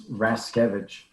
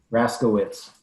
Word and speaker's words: Raszkiewicz: It's Raskevich. Raskevich, okay. Thank you. And I'm sure that it's rarely pronounced that way. Exactly. Raskowitz is what most people say. I was going to say, yeah, that would be the usual reading of it.